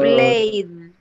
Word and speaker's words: played: No se tiene ed. Se tiene que escuchar este. So, played.